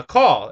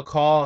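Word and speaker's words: Caul: number five so uh call and I I believe that's how you pronounce the name c a u l uh call goes up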